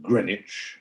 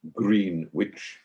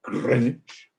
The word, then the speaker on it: Greenwich: which is greenwich uh pronounced greenwich not green witch but greenwich and uh there's the